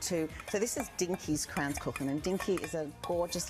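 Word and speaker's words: Kranzkuchen: Okay, well today we've got Kransküchen. That's how you pronounce it. Kransküchen.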